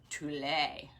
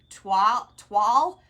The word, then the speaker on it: toile: Toilette. Toile. Did I say it wrong, Carla? Toile rose. I think you're right. Toile roses. It just sounds so fancy. I want to say toilet the way it's spelled.